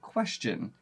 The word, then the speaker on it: question: question question we don't we don't say that that Tio n on a lot of other words actually pronounces as like a sh sound so we should say question but that's not what we do we actually turn that last part of the word into a C Sound question we kind of